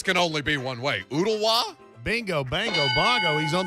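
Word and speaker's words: Ooltewah: ooh this this can only be one way oodawa bingo bango bongo he's on the board we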